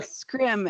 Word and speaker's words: SCRM: answered for me was how to pronounce SCRM. I've been wondering that for forever. So, scrim is is the word of the day, everybody.